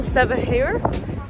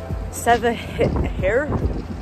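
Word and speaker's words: Cevahir: It's called Sevahir. This is me trying to pronounce right. Okay, Istanbul Sevahir. It's like C-E-V-A-H-I-R. So Sevahir.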